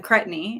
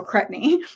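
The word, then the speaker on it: Cretney: right so i said is it crep like jet and then knee like k-n-e-e and um she said like cray so i'm like oh like then and she's like well no and so then she she did a voice one to me and said cretany and i'm like oh okay i was right the first time cret rhymes with jet so crepney but it was funny i'm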